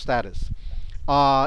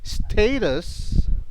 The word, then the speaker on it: status: That's the meaning of status. In some places they pronounce it as status. All right. But basically in America it's status.